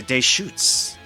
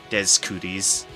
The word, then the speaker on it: Deschutes: It's pronounced Deschutes. Ah, Deschutes. Amazed the amount of people that pronounced it Des Cooties.